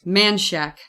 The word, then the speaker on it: Manchaca: in Austin, it's Man shack. Man Shack is how they pronounce that road.